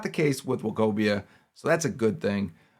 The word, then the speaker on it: Nwokobia: I had to stop there and remember, you don't pronounce the N. It's just Nwokobia out of SMU.